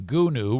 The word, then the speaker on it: Gunu: Gunu rhymes with who knew.